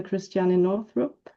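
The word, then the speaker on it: Christiane Northrup: Cristiana Northrup. I don't know if I pronounced it right.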